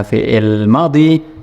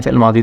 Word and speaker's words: fi'il madhi: Jadi kesimpulannya, kalau ada fi'il madhi yang kemasukan dhamir yang bermakna nahnu atau kami atau kita, itu tidak di fathah akhirnya tapi di sukun.